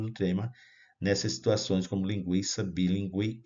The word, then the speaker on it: linguiça: iria O tremzinho sobre o u caso de linguiça lembra então lingui o u é pronunciado we então o trem iria para indicar